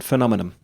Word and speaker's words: phenomenon: The confirmation phenomenon. Yeah. Is it phenomena or phenomenon? Phenomenon. The way it's spelled is phenomenon. Phenomenon.